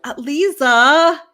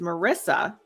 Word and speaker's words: Marisa: time they'll be like lisa oh hi lisa how are you first of all my name's not lisa okay my first name is marissa some people say oh